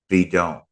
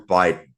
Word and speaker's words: bidon: gas jug or something, bidon, bidon, bidon, bidon, or Biden, as you would pronounce it in English, because the Mm.